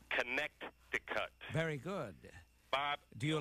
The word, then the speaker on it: Connecticut: the state's name well that second C fools everybody but how do you pronounce it with the second C connect the cut very good Bob do